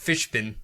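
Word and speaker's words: Fishbein: I looked up how to pronounce it, Fishburne. Fishbin?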